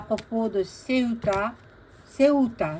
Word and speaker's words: Ceuta: Ceuta, c'est en espagnol, le U, ça se prononce O, ou, Ceuta.